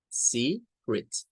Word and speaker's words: secret: It's an interesting word because we find two vowels E, two vowels E. But for the two, we have different pronunciations. In the first case, for this part, or maybe for this syllable, and we have to use the E sound, long sound, C, Z. Okay. But for the second one, is going to be the short E, E, secret, secret.